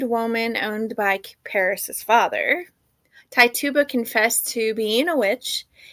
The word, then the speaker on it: Tituba: this lady's name but it's t tube t tuba um it's spelt t-i-t-u-b-a i don't mean any disrespect so i would say it's tituba maybe an enslaved woman owned by paris's father tituba confessed to being a